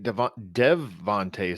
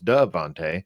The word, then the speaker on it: DeVonta: All right, let's move on to his teammate Devonta Smith. I'm only doing that because I spelled his name wrong. I thought it was Devonte. Is it Devonte? Devonte? A at the end.